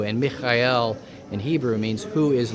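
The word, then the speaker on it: מיכאל: And uh it would be pronounced Mikael in Hebrew. And Mikael in Hebrew means who is like God.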